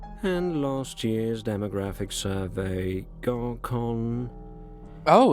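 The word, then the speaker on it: Gorkhon: And last year's demographic survey, Gorkon. Oh, Gorkon. Where is it even? He actually pronounces it Gorkon. Interesting. Because as far as I understand, KH is pronounced H.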